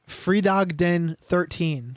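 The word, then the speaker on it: Fredag den 13: July yo bro you want to try to pronounce it or should I it's freed Dog Den 13 all right now hit that album title which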